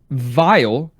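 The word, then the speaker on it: Weil: W-E-I-L is Wile. Sounds like Wily, right? And I think they were going for that. But also, in German, that would be pronounced, the W would be pronounced with a V. Vile, which is interesting because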